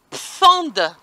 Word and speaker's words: Pfand: Il y a un mot, alors je vais le prononcer à la française, PFAND, P-F-A-N-D, ouais.